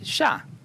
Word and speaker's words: ya: And the first word is sha, now.